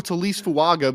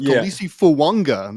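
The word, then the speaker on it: Taliese Fuaga: No, we've been calling him a Talise Fuaga, but apparently it's pronounced Talisi Fuanga. Apparently there's an N in there as well.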